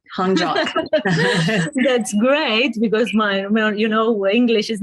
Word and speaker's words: Honjok: Did I pronounce it right? You did, Honjok.